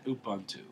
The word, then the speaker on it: Ubuntu: Ubuntu what a great how do you pronounce it Ubuntu like you yeah I can't say